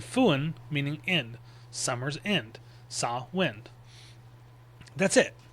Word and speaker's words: Samhain: cow or a like sin. Cowin sawin. It's not Sam Hayne or anything like that because the mh in sin in Irish Gaelic makes more of a w sound.